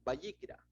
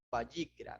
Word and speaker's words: Vayikra: Y te invito a que abras el primer capítulo, versículo 1, y ahí encontraremos el significado de Vayikra.